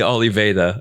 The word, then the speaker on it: Oliveira: I have with me today Olivera from Olivera Studio. And it's not actually Oliveira. It is. It would be Oliveira if you were pronouncing it with the Portuguese accent.